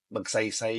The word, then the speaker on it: Magsaysay: He's like, tala naman, magsaysay yun. So I just literally asked you, how do I say this? Read it how it's written. It's written Magsaysay.